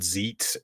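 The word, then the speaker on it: Xeet: will now be called Zeet x-e-e-t which if you pronounce it like uh Mandarin that makes it a sheet if you're gonna take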